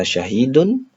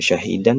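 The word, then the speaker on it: شَاهِدٌ: Kemudian kata 'shahidun'. Sekarang, kita membacanya sebagai 'shahidun', bukan ' shahidan' atau 'shahidin', karena fungsinya sama dengan 'inna'.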